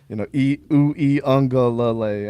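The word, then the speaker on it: Uiagalelei: She was like, I don't understand, you guys are pronouncing our last name wrong. And she's kind of spelled it out phonetically like that. Was like, Uyunglele, and I was like, oh, okay, that makes more sense.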